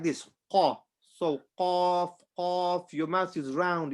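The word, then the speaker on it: ق: Qaf, I make my mouth round. Kaf, I make it flat.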